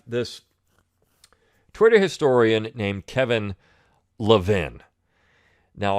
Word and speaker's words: Levin: Twitter historian named Kevin Levin. Now, I often joke and say Kevin Levine. It drives him nuts. I get his name wrong on purpose.